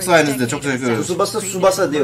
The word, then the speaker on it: Tsubasa: Tsubasa Tsubasa diye okunuyormuş.